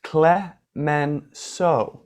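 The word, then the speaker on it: Clemenceau: what clements oh sir the name is pronounced cla man are you correcting me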